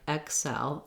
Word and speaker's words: excel: light and ick but if you hear some people saying more like excel excel with a little more length and a little bit more of an x sound i think that's an acceptable pronunciation as well it's still going to be second syllable stress so the short answer